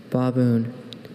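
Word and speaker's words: baboen: Baboon. Are there any alternate pronunciations?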